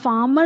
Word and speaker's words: farmer: It indicates that the R is there, but it need not be made prominent while pronouncing.